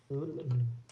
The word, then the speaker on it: Llewellyn: Zone 10 by David I'm assuming that's pronounced uh yellowlin possibly Lewellen I'm not where Luellen Double L E W uh double l e w e double l y n Llewellyn Llewellyn that is that is one Welsh name I actually know how to pronounce oh it's well she